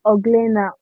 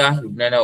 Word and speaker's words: Euglena: Okay, so at the examples of kingdom Protista, we have amoeba and we have is it Oglena or Laram? Euglena. I don't know how to pronounce it.